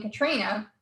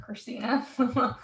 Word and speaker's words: Christina: that ever since Hurricane Katrina, people constantly get my name wrong. They constantly call me Katrina instead of Christina.